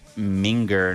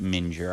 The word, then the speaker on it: minger: Pronounced minger, not mure.